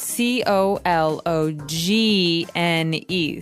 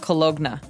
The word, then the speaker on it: cologne: It ends with uh it it's spelled C O L O G N E. So you don't really say the G. It's not cologna, right? It's cologne.